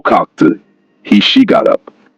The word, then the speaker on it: kalk: The root kalk has a sharp sound due to the LK cluster. Stress the first syllable.